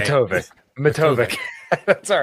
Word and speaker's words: Matovcik: Matovcik. That's all right. Yeah. Matovcik. There. Yeah. I usually spell it out for people because if I say